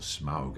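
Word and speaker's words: Smaug: below the mountain where smog the dragon lives or smog actually as I suppose to pronounce him.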